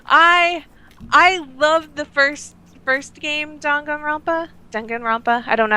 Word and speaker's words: Danganronpa: I loved the first game, Danganronpa. I don't know how to pronounce it.